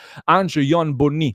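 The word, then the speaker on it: Ange-Yoan Bonny: andiamo su Transfer Market, Angon Bonni, dovrebbe essere questa la pronuncia corretta del nome dell'attaccante francese, nato il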